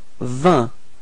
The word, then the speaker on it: vingt: Okay, and next come vingt. Okay, so final T and then the G is coming before are not pronounced, so the sound is vingt.